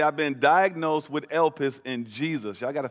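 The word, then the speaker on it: ἐλπίς: you hearing me now hope in the greek is pronounced elpis or el pis i tried my best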